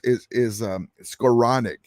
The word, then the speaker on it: Skowronek: Skronik down at the So I call him Schroenick. So the way you pronounce it is Skowronek.